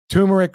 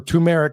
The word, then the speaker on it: turmeric: So, basically, it's a combination of providing or or combining, rather, ginger, honey, turmeric or tumeric, however some folks pronounce it, and vanilla as natural antibiotics.